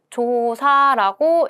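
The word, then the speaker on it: 調査: 그래서 조사는 조사할 게 많으니까 장음이 있다. 조사라고 읽습니다.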